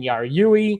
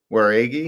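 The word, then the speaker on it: Jauregui: We got Yasmin Yarui. I think I said that right. Versus Ketlin Souza. Did I say that wrong? Yeah, you butchered that one. Did I? How do you say it? Waregi.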